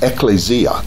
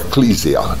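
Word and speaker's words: ἐκκλησία: but the original and the Greek is ecclesia or ecclesia depending on your pronunciation out once the separated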